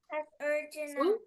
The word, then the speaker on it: अर्जुन: Let's see the meaning अर्जुन ओ अर्जुन so this is this is pronounce S अर्जुन this gives you the sound of a what is अर्जुन?